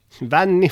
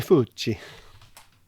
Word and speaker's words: Vanni Fucci: Oh, is that how you pronounce this guy's name? Vanni Fucci. Vanni Fucci.